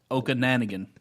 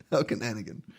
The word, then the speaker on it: Okanagan: In Lake Can you pronounce the Canadian lakes? Okanagan. Okanagan.